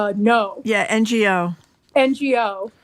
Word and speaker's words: Ngo: It's written by Jason Bieferman and Emily, I think her last name is pronounced No.